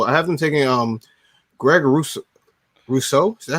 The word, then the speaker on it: Rousseau: So I have them taking Greg Rousseau. Is that how you pronounce it? Am I yes, correct? sir. Yeah. Here we go. Greg Rousseau.